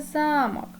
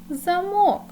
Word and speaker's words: замок: веж так діти це замок а щойно зміниш ти наголос то отримуєш замок замок замок Подивіться будь ласка два